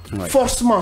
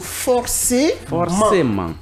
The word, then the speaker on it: forcément: Vous entendez par exemple des gens dire forcement forcment ce n'est pas forcément mais c'est plutôt forcément. Très bien. Parce que le e il est accentué.